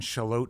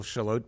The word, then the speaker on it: Shallotte: No, and because of my sister living there, I wondered, you know, I hesitated to say to people Charlotte because it sounds like Charlotte, like I'm mispronouncing Charlotte.